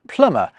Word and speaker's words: plumber: It's through this process that plumber gets its silent B and receipt gets its silent P.